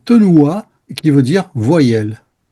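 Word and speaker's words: תנועה: Et le mouvement en hébreu, et c'est un mot qui se prononce tenoua, qui veut dire voyelle. E il movimento in ebraico è una parola che si pronuncia tenua e che vuol dire vocale.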